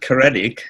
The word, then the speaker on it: Kestrel: Well, you pronounce it Kestrel, and it's obviously a Welsh name.